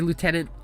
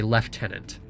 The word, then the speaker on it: lieutenant: but in pronunciation is you're supposed to say leftenant yeah they're dropped or